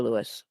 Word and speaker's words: Lewis: Like half the people I know in the US pronounce it with the long I.